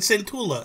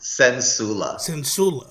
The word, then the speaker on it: Centula: I said Centula. Is that right or wrong? It's like both C's are S's. Sensula. Okay. But it's spelled like Dracula.